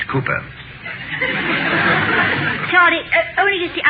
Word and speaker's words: Cowper: William Cowper hmm uh it is spelled Cowper but pronounced Cooper sorry I only use